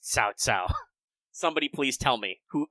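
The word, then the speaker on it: 曹操: Why is it written cow cow, but it's pronounced Cao Cao?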